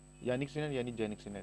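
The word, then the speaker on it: Jannik Sinner: तो ये है यानिक सिन्हा। इन्हीं को जैनिक सिन्हा बोला जाता है इंग्लिश में। ठीक, क्योंकि जे से शुरू होती है स्पेलिंग इनकी।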